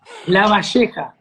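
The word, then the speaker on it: Lavalleja: You've got to give me a proper class on how to pronounce La Valleja. La Valleja. La Valleja, okay.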